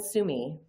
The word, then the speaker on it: Summe: Summe. It's like summer with no R.